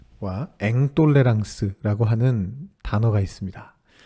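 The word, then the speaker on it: intolérance: 철학 용어 중에 똘레랑스와 앵똘레랑스라고 하는 단어가 있습니다 좀 익숙하지는 않으실 수 있는데요 영어의 톨루런스와 인톨로런스를 불어 발음으로 발음한 것입니다 우리말로 번역한다면 관용과 불관용이라고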